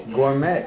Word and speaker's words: gourmet: Gourmet. Well, see, that was the confusion, you know, being bilingual, you know, reading, looking at the word. I saw met and I saw gore.